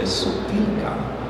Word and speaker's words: sopilka: Vora will play the accordion, and Alex will play the sopilka.